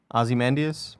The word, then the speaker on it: Ozymandias: where how it was do like, you pronounce it? Huh? Oh, Ozymandias?